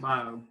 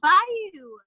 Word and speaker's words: bayou: Yeah, I do pronounce it bio. I do. Everybody in Southeast Arkansas calls it bio. And it's not right, and I know it. That's what everybody calls it. I thought it was Bayou. It is Bayou. But everybody where I grew up on Bayou Bartholomew, and that's what they call it, Bayou. They don't call it Bayou, which that's the right way to say it.